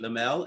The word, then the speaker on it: Lemelle: So today our guest is Lemelle. Am I pronouncing your last name correctly? Yes, you are.